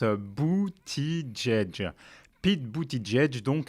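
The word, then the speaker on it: Buttigieg: semble faire rêver personne boutih jek non non non non on prononce abouti djedj pitt beauty djedj donc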